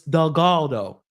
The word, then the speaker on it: Delgado: Michael is not Delgado. It's Delgado. I gotta remember that. So I know I've been not pronouncing his name correctly. I want to change that. It's Delgado, not Delgado. It's Del and then Galdo.